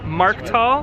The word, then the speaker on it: Markthal: Markthal?